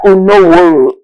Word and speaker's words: Unavworho: Anyways, we have Brenda Unavworho. It's a renowned, let me be sure that name is pronounced properly.